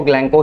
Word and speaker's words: Glencoe: अब ये ग्लैंको क्या है, इसको ग्लैंको ही पढ़ते हैं। आप गूगल पे भी चेक कर लीजिएगा, प्रोनाउंसिएशन वगैरह थोड़ा अच्छा रखिएगा।